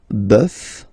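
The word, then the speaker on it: bœuf: much but then uh these exceptions are really really strange because it does mean that the pronunciation will change okay so we'll take this one uh buff uh buff and then at the plural well you just write it like we saw previously so you just add this s but then pronunciation changes quite much because you get de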